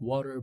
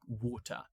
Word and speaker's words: water: In American English, we pronounce it like water. But in British English, the RP accent, at least the received pronunciation accent, they pronounce it like water. Water. We do have uh the cochney accent in British English as well where they pronounce it like W. They use a global stop instead of the T.